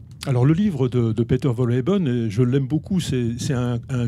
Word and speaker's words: Wohlleben: Il y a un livre qui est sorti il y a quelques années de Peter Wohlleben, comment se prononce son nom ? Wohlleben.